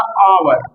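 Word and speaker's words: hour: एस शॉर्ट term देखें तो जैसे मैंने ऐसे पढ़ा आवर, आवर, तो आवर में एस साइलेंट है, आ रहा है इसलिए एन लगेगा।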